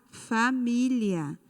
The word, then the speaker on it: família: E por fim nós temos a palavra família. Família. A sílaba tônica é mi.